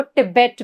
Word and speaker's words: तिब्बत: Next है तिब्बत plateau is also, इसको टिबेट भी प्रोनाउंस करते हैं।